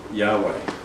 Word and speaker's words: Yahweh: an anachronism in Hebrew there's actually no there's no valve so it's actually why HWH but someone's phonetically put vowels in so we can say assuming this would be the closest way of saying it but it actually